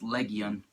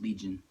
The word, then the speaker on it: Legion: or attack of Legian in japan he's pronounced Legian but he's supposed to be called legion but i referred to him i was legian because that's how he's called um so first where to